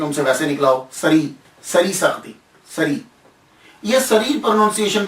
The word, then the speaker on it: سری: پھر ایک پروننسیشن اور مشہور پروننسیشن جو ہے، تلفظ جو ہے وہ ان کے نام کا سری ہے۔ سر الدین سری، سر کہتے ہیں راز،